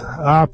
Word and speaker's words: Ape: That's 1977, and it is pronounced Ape, Italian for B.